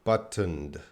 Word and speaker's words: buttoned: to pronounce this word buttoned buttoned buttoned button but oh let's pray let's break it down that's just gonna be the D sound but that's gonna be the schwa sound buttoned buttoned buttoned buttoned buttoned